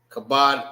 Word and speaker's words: Kabod: Ka is pronounced by itself. It makes one sound. And bod makes one sound. Kabod. So that's two different sounds. You got ka and bod.